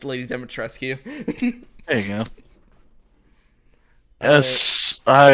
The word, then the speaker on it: Dimitrescu: There's no pronunciation on the U. Yeah, it's Lady Dimitrescu.